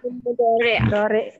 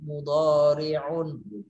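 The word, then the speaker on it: مضارع: Mudore. Fi'il mudore. Mudhari atau mudhari Mudore. sebenarnya sama. Mudhari sama, mudhari sama mudhari. Kalau yang benar bacanya pakai fasahatul huruf mudhari'un.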